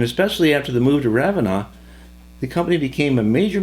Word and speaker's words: Ravenna: Ravenna was named after a city in Italy and is pronounced Ravenna.